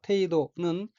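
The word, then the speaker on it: 程度: 넷째 줄 첫 번째 어휘는 한자가 한국어로 정도이고 한도정, 법도도자로 되어 있고 일본어로는 테이도라고 읽으며 테이도는 정도라는 뜻입니다.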